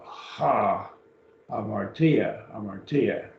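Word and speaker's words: ἁμαρτία: Notice here, there's a rough breathing over the alpha. Ha, amartia.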